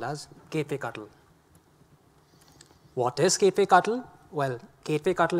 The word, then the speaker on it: kubectl: get some wrong ideas, this is going to be pronounced as Kubectl and not something else.